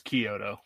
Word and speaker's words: Chiodo: It's Chiodo. There's a Chiodo? CH, but it's a CH, but it sounds like a K.